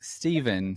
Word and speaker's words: Stephen: My name is Steven, spelled with a ph. It's pronounced the same way as if it were with a V, right?